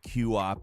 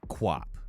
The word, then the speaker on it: QWOP: Like I said, I've never really known how to pronounce it. I've called it QWOP in the past, but it's apparently QWOP.